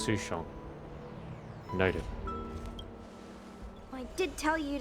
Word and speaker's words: Sushang: just transferred here from the Yao ching I pronounce it it's sushon native I did tell you to let me